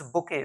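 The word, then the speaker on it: bouquet: Next BOQU, spelling my dear learners ये correct नहीं है, BOQUET है, BOQUET. This is बुके, BOQUET.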